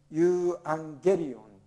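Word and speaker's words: εὐαγγέλιον: っついたアウ、エウというのはウと読む。だからユーアンゲリオンと読むんですね。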